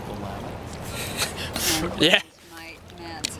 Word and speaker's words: Willamette: It's called Willamette. It's pronounced Willamette.